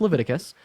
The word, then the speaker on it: Leviticus: there's 1822 levius 18 it's pronoun it's it's pronounced Leviticus uh I have a question so you think